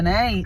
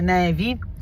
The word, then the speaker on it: nevi: Devo controllare dei nei che poi non si dice nei, si dice nevi.